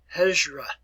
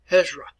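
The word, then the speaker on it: Hijrah: r a all right let's pronounce it here hezra ezra work on your pronunciation hezra all right let me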